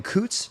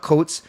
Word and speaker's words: Coots: First pick was center Braden Coots. Not Coats. Anyone saying Coats is wrong.